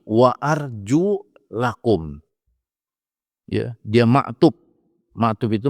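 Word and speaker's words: وَأَرْجُلَكُمْ: dalam al-quran wamsahu biruusikum bukan wa arjulikum tapi wa Arju lakum ya dia maktub maktub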